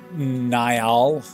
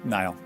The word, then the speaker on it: Nile: Nile. Nyall. It's Nile. Like the river.